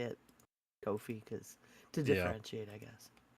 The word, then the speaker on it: Ko-fi: tip on our Kofi, which I don't know if it's actually pronounced Kofi. I've heard people say coffee. I I just I I just think it's Kofi, so we're just going to go with that.